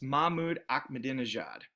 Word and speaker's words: Mahmoud Ahmadinejad: gave you, I bet you'd be able to pronounce it or come pretty close. It's Mahmoud Ahmadinejad.